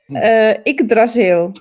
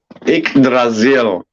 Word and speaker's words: Yggdrasil: I don't know how to pronounce this. How is it, Evelyn? Yggdrasil. Yggdrasil.